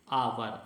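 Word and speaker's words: hour: आवर, आवर को आप हिंदी में प्रोनाउंसिएशन है वो आवर है, आ है, आ नार का है, ये व्यंजन है इसलिए इसमें एन आएगा। ये स्वर है आ नार का, इसलिए इसमें एन आएगा, ए नहीं आएगा।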